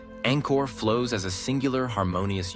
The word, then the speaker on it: Angkor: The second syllable, kor, is pronounced with a short O, akin to the O in pot, not the elongated kor often heard in Western renditions. When spoken correctly, Angkor flows as a singular